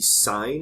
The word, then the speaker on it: sine: You'll see sine is often abbreviated S-I-N. It's still pronounced sine though.